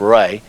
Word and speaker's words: Ra: a chief God was raw sometimes pronounced Ray the Sun God he